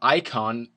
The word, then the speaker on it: Ayecon: the theme I'm running is called icon that is spelled a-y-e-c-o-n and it you can